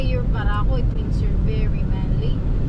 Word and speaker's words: Barako: Barako. Yeah, Baraka's like you're an alpha, you're like a man. Barako.